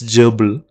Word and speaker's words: GRBL: going to check this grbl pronounced as jble is a free open-